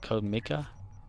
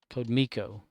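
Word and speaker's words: CodeMiko: Have you ever watched Code was it Code Mika? The Twitch technician is the one character is called created Code damn it, what is it called? Am I saying it right? Code Miko.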